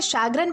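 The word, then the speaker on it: chagrin: दोस्तों इसे सैग्रन प्रोनाउंस किया जाता है जिसका मतलब होता है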